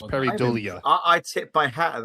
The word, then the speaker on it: pareidolia: I think it's pronounced pareidolia.